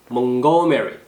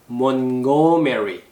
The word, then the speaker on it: Montgomery: T가 발음이 안 되죠. 근데 자세히 들어보면 들리나요? 약간 원래는 발음이 안 되는데 발음 소리가 잘 들리지 않아요. 근데 원어민들은 T를 발음하는 곳에 정확하게 혀가 딱 들어가 있어요. 그래서 우리는 발음이 안 되는 것처럼 들리지만 사실은 혀는 이미 발음을 하고 있다라는 거죠. 소리만 안 날 뿐이에요. 그래서 캐치하는데 조금 어려워요.